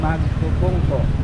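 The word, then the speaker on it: Magpupungko: Welcome to Mag Punco.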